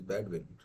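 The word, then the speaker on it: Bedouin: Well, I guess the accepted pronunciation is Badin. So uh her interaction with badwin women it was shaped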